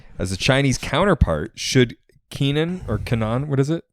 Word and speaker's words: Kenan: a Chinese counterpart should Keenan or Kanan what is it Kennen Kennen the wage Christian described it to me is that it's pronounced like Lenin okay is uh Canon